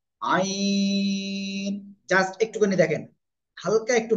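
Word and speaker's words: عين: উচ্চারণ করবো কয় আলিফ চার আলিফ আমরা টেনে উচ্চারণ আইন জাস্ট একটুখানি দেখেন হালকা একটু বাঁক হবে আইন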